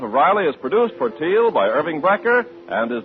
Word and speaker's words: Teal: And remember, for laughs, it's R-I-L-E-Y, Riley, and for lovely smiles, it's T-E-E-L, Teal.